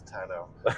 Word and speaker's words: tonneau: Okay, everyone in the comments, we've been arguing about how to pronounce it. Is it tonneau or is it tonneau? It's tonneau.